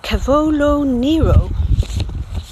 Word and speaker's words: cavolo nero: we love the cavola N kale which you pronounce Cavolo Nero we love the dark green leaves of this